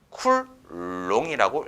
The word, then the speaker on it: 쿨롱: 이 C는 쿨롱이라고 읽습니다.